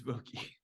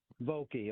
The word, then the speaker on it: Vokey: It's Vokey. Vokey, okay.